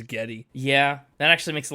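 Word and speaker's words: Geddy: wasn't born with it his real name is Gary Lee but his like great-grandmother or something pronounced Gary as Getty yeah that actually makes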